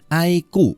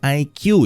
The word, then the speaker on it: iQOO: kita lihat Oke iku ya bacanya aiku bukan IQ ya Aiko ini memang